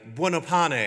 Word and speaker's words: Buonopane: Ladies and gentlemen, presenting from Canberra, Olivia Buonopane. How did I go with pronunciation, Olivia?